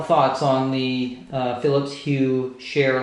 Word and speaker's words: Cher: on the philips hue share light so and it's spelled CH ER just like the Entertainer so that's its name